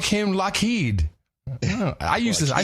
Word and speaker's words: LED: Walmart yeah I heard I when he said loed I was like wow that is that how you pronounce it am I have I been doing it wrong all these years loed loed is like y Yim LED I used I say LED L it's that's